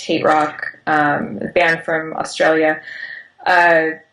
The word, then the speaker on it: HTRK: asked by um htrk which is pronounced hate rock um banned from australia